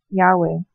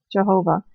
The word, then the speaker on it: Yahweh: to the deity by the divine name, Yahweh, formerly mispronounced Jehovah, and the other version of the story would refer to the deity simply as God.